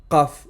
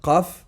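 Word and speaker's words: قاف: Pour prononcer correctement la lettre Qaf, la racine de la langue doit monter et toucher le fond du palais.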